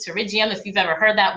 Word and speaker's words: pterygium: the comment box to rigium it's actually spelled with a p terrigium if you've ever heard